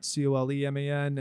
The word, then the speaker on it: Kolman: And I was like, well, it sounds the same, but it's spelled different, so I think we'll be okay.